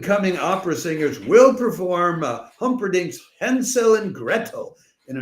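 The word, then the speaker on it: Humperdinck: opera singers will perform Humbering's uh sorry, I have to do that again because I mispronounced Humpdink. Sunday, August 8th, a troop of upand cominging opera singers will perform Humperink's Hensel and Gretto in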